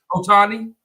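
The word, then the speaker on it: Ohtani: was it ohani what's his how you said pronounce his name yeah Otani Otani yeah so he's getting all these millions and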